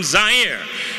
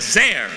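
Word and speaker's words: Zaire: everyone Howard coel coming to you live from zier some would pronounce it zir they're wrong it got big laughs and then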